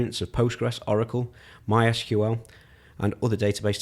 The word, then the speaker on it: Postgres: for a loop because everybody calls it Postgres but it's spelt PostgreSQL know how should we